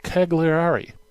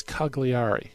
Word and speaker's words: Cagliari: Lucifer of Cagliari I think I believe that's Cagliari I believe that's how you pronounce it the Bishop of